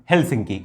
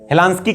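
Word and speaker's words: Helsinki: Norway Oslo, Sweden Stockholm, Finland हेलसिंकी, इनकी Capitals हैं। Norway Oslo, Sweden Stockholm, Finland हेलसिंकी। हेलांस्की कह दीजिए, हेलसिंकी कह दीजिए, है ना, प्रोनाउंसिएशन पे डिपेंड करता है।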